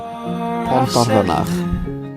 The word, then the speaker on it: Pontarfynach: Nathan, how do you pronounce that? Pontarfynach.